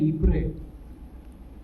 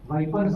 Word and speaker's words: Ypres: विशेषकर बेल्जियम में एक जगह कहलाती है, कभी गूगल में सर्च करना, उसकी स्पेलिंग है YPRES, प्रोनाउंसिएशन है इप्रे, वाइपर्स नहीं है, इप्रे है।